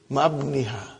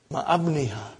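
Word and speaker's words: مع ابنها: But remember, ibni has got hamzatu wasal. We cannot pronounce it. How will you say? Ma'abniha. Ma'abniha.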